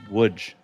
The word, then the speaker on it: Łódź: Now, that is spelled Lodz, but it is pronounced Łódź.